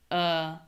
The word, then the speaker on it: Alaska: We reduce Alaska. So, those syllables don't all sound the same, which is kind of the point I'm getting at here.